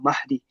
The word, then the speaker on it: Mahdi: And Hazrat mentioned that the correct pronunciation, we often write it with an E, but the actual pronunciation is Imam Mahdi, this with a fatha.